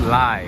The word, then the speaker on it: lei: It's pronounced Lai, okay. You guys wrote like L-A-I, L-A-Y, so L-E-I.